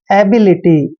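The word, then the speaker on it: ability: अब देखिए ABLILITY, ए का उच्चारण हम ए करते हैं और बी को बै पढ़ते हैं, और आई को ई की मात्रा पढ़ेंगे, और LITY आया तो इसको लिटी पढ़ना है, एबिलिटी।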